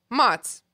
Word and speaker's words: Mots: Next week on the podcast, after that, Mots. It's one syllable M.